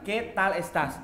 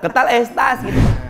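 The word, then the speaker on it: qué tal estás: It's ketal ketal es tas. Jadi sebenarnya, tulisannya adalah que tal estas.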